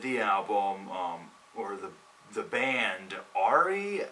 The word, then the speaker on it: Auri: album, or the band Auri, A-U-R-I, I believe that's how it's pronounced, and that shit was fucking fantastic.